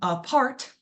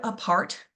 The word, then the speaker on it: apart: So in the word apart, we first say uh and that right away we know that's our schwa sound because we don't say a part.